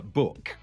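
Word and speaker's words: Bouc: Book. I think it's spelt book, but I just kind of read it as I think they say it as if they're French people saying book, but it's book.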